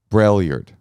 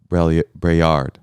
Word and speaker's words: Braillard: my friend michael uh everybody in the family calls it uh brailliard but he goes by brayard as he should brellyard is a dumb last name and you a lot